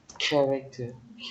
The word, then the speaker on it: character: Character. Yeah, characters. Mình sẽ viết là âm ch, nhưng mà khi đọc mình không đọc là character mà là character.